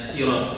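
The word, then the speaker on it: صراط: Kalau ada orang pakai huruf bacanya sirat pakai huruf sin itu enggak boleh disalahkan karena asal dari kalimat sirat itu dengan huruf sin.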